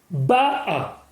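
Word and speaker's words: בָּאָה: Rashi nous explique que ta'amo, l'accent tonique doit être dit sur le haut du mot. Ba'a.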